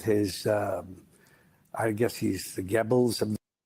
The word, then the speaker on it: Goebbels: What do you mean Goebbels? There's no R in there.